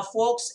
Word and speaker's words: folks: folks one and all now folks l is silent remember it's not folks remember and there's exclamation